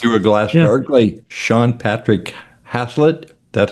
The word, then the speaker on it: Hazlett: Sean Patrick Hasslet. That's how you Hazlet. You're pronouncing it like it's spelled though.